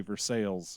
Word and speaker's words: Versailles: say it's saint francis just like we call versailles missouri for sales and we call call